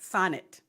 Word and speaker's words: Sonnet: Sonnet, I'm going to say it right, Sonnet, like bonnet, Sonnet.